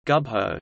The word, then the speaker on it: Gubbio: Gubbio, Italian pronunciation, Gubbio, is a town and comune in the far northeastern part of the Italian province of Perugia, Umbria.